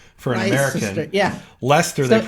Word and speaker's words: Leicester: Leicester, they So pronounce it.